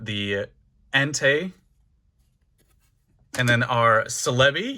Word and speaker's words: Celebi: Entei and then our Celebi yes that's how I say it like celebrity I know Celebi is probably the correct one but it's just always